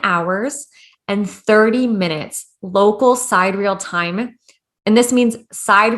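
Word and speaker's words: sidereal: that was until he found what is called side real time it's spelled s-i-d-e-r-e-a-l and basically side real time is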